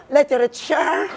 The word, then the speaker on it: literature: Jadi kalau T dibit oleh dua Fouel kita bisa bilang D in American English.